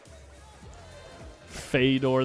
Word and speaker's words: Fedor: really that's close but it has something to do with the Russian dialect and the way that the anoun is the name is pronounced because I asked him how does what does your mother call you right that's what he said it's something like f and uh he just says fetter's fine Fedor the Claymore gor a